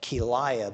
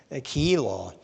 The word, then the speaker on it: Keilah: I used to call that Keilah, but somebody corrected me on that, and I looked at the pronunciation, so I'm working on trying to get that Keilah.